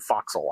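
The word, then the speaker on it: forecastle: I I don't know why it's pronounced bow sprit, but I don't know why for castle is is abbreviated foxel either.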